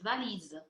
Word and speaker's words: valise: On le prononce valise. Valise, exactement. Vous avez le son Z qu'on a vu tout à l'heure, mais pas le son S dans ce mot.